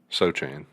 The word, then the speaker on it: Sochan: Is it Sochan or Sohan? Sochan, Yeah. for sure.